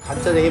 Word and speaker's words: 간짜장: 간짜장이 무슨 뜻인지 모르는 경우 되게 많은데요 원 발음은깐 짜장 간이라는 드라이하다 마르게 짜장을 볶는다 그런